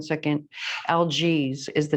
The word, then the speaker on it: Algiz: And this particular rune, I always call it the wrong thing because I can never pronounce it correct. So give me 1 second. Algiz is the name of this rune, Algiz.